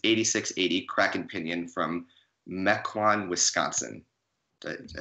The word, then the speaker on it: Mequon: the list is 86 80 cracking opinion from Mequon Wisconsin I say that correct yeah you said